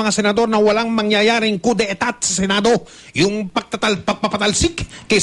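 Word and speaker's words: coup d'état: karagdagang detalye tungkol sa balita na pagsisigurador ng mga senador na walang mangyayaring coup d'etat sa Senado. Yung pagpapatalsik kay Senate President, ha? Coup d'etat. Coup d'etat. Yun ang spelling nito, coup d'etat, E-T-A-T.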